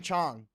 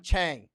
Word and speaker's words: Chang: China listen to Gordon Chong listen to Gordon chest I'm sorry I say Chong sometimes because I'm in Thailand in China is how you pronounce it in Thai language Chong means elephant actually